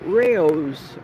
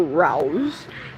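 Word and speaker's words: Rao's: Raos or rouse, depending on who you are and your pronunciation.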